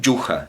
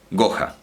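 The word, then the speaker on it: جحا: Bueno, en fin, que ese jim los egipcios directamente lo pronuncian como G. Entonces no dicen yuja, no dicen yuja, dicen goja, porque la U también la abren.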